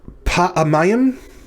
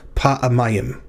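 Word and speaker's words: פעמים: The pay with a pathach under it is our first syllable. The ayin with a composite shava is the second syllable. The mem with a pathach is the third syllable, and the yod hirek mem is the fourth.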